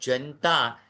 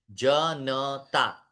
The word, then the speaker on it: जनता: अब जनता ये अयोग्य उच्चारण है। जन नता यह शुद्ध उच्चारण है। जनता न पूरा है।